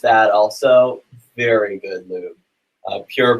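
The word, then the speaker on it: Pjur: Pure Black, and that's spelled P-J-U-R.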